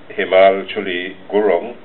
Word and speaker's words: Himal Chuli Gurung: Our guest from Jamaica, you all call her Hema, so I'll pronounce it Himal Chuli Gurung, yes, UNESCO Cultural Program Specialist from the UNESCO Office for the Caribbean in Jamaica.